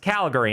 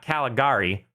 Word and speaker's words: Calgary: And that's pronounced Calgary, not Caligari.